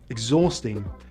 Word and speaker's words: exhausting: And we don't always say the H after EX: exhilarating, exhausting, exhibition, but we do say it in exhale.